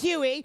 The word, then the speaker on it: Huey: So, remember, the name is Huey, rhymes with woo-wee.